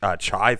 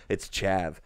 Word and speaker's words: chav: I wanted to say chive for some reason, but I'm like, no, I'm pretty sure it's chav.